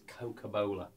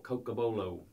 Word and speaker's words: Cocobolo: If you look on there, this wood is Cocobolo, or Cocobolo, depending on how you want to pronounce it.